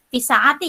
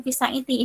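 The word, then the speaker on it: في الساعة: Kemudian ini fisaati ya, bukan fisaiti.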